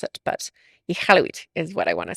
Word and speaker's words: Iqaluit: I want to say it properly, but my ignorance needs a little bit of work on how to properly pronounce it. But Iqaluit is what I want to say.